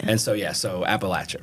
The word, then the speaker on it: Appalachia: grew up in in Appalachia right which by the way is how you say it it's it's not Appalachia people tell me I'm